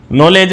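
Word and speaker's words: knowledge: उसी तरह एक और शब्द है नॉलेज। नॉलेज में के, डब्ल्यू और डी ये तीन वर्ण साइलेंट है।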